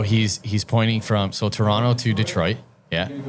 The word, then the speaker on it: Toronto: Where's Toronto? The the T isn't pronounced.